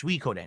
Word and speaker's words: Suikoden: Maybe we could hit a second goal by the end of Suikoden 2. I don't know about that. I keep saying Suikoden. It's Suikoden. It's Suikoden. That's how you pronounce it.